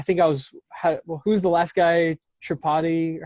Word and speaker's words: Tripodi: Tripodi? How do you say Chris it? Tripudi.